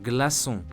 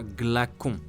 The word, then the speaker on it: glaçon: on a cake, or glaçon, which means ice cube. In those cases, you see that if we kept the letter C as such, it would be read glaçage or glacon with a K sound.